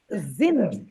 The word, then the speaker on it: sind: Zind. Int It is not. Int. This S will be pronounced as the. The. Like Right. ZIND, Zind. Sind.